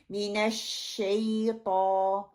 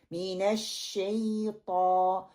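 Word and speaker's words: من الشيطان: हमने कोशिश ये करनी है, जबान का दरमियान वाला हिस्सा शीन के लिए उसकी प्रोनाउंसिएशन करनी है, जबान का मिडल वाला हिस्सा ऊपर तालू की तरफ उठाना है, फिर हमने पढ़ना है अश, ये वाला साउंड निकले, मिनश्शैता, मिनश्शैता।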